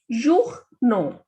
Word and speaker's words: journaux: The pronunciation of O and U is U, and A, U, and with X also the pronunciation is O. So this is journaux.